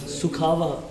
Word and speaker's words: Sukwaha: Yeah, and how to really pronounce it properly. Sukwaha. Sukwaha.